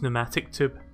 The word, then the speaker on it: pneumatic: at that wards and I keep pronouncing the P I know it's silent there's pneumatic tube just my brain makes me want to say an animatic because it's got a P there it's one of those